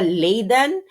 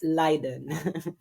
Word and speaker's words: Leiden: Actually iba-iba rin 'yung pronunciation ng Leiden. Yung mga taga Liden iba 'yung pronunciation nila ng Leiden. It's not Liden again, it's Liden. Liden Liden. Hindi po siya Layiden, it's Liden.